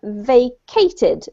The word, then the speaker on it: vacated: And the last one was vacated. Vacated. Vacated. Yep, just like vacation. Same pronunciation. Okay.